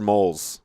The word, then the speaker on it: Molls: Is it Molls or Moles? Moles. I pronounce it moles, like mole in the ground.